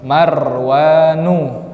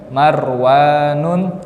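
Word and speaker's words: مروان: Marwanu, tidak boleh Marwanun.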